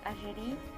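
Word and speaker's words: Algérie: algeria or if in i do say in french i would say ajiri but there are other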